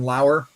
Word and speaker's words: Lauer: it's my buddy ryan lauer which is spelled like a lower and he just hits